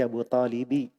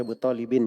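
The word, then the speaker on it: أبو طالبِ: Di situ dibaca Abu Talibi, tidak boleh dibaca Abu Talibin ya.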